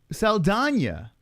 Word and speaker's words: Saldana: Saldana is how you say his name, by the way.